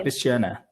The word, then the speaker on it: Kristianna: But the I pronunciation is the same, okay. Christiana.